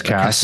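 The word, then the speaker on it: Casse: Matthias Cass. Yeah, defending world champion. How do you say his name? It's Cass, defending world champion. Yeah, I was wondering because of an E at the end.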